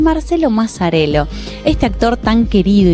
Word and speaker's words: Mazzarello: ¿Mazzarello está bien pronunciado? Mazzarello perfectamente.